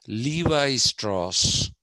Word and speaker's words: Levi Strauss: that jeans is thanks to the americans they pronounce it as levi strauss okay they say levi strauss you must have